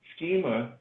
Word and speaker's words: Schema: SCHEMA. Schema, like a electronic schematic, right?